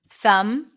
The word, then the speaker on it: thumb: So when you have the MB spelling at the end, you do not pronounce the B.